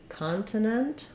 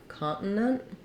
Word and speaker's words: continent: and practice it so I'm going to try continent or continent Continental or Continental Continental I think for this